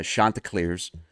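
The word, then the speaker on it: Chanticleers: Um they remind everybody how to properly pronounce it. Uh Shanta Clar's.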